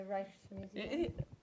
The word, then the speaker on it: Rijksmuseum: So 80% of the visitors are foreign, so nobody can pronounce the word Rijks, because that's the sound we have in the Netherlands. It's the sound. It's a combination of the I and the J, and it's only in the Dutch language where it's a sound.